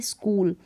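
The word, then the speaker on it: school: नहीं पढ़ेंगे अब जैसे स्कूल की स्पेलिंग लिखिए स्कूल तो यहां पर क को के प्रोनाउंस कर रहे हैं ठीक है ये जो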